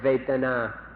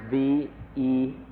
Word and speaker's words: Vedana: you in fact, to remember this word Vedana, or in Thai, Vedana. It's spelled in Roman letters V-E-D-A-N-A, Vedana or Vedana.